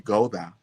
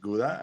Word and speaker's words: Gouda: I actually my name is supposed to be Goda, but I like it better like Guda and now I present myself like Guda. I was I was telling my own name wrong.